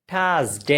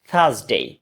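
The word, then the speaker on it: Thursday: আমরা কি বলি থার্সডে এটা থার্সডে না এটা হচ্ছে দুই রাতের ফাঁকে জিহ্বাটা ঢুকাতে হবে থার্সডে থার্সডে থার্সডে থার্সডে এরপর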